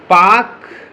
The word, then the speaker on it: Palk: पूछा गया है कि पाक जल संधि, यानी पाक मतलब PAK नहीं, PALK, ठीक है। कई जगह इधर पाल्क भी बोला जाता है, लेकिन इसका L साइलेंट है इसमें।